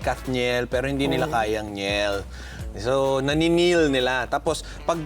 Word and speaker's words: Njel: Please welcome Njel de Mesa.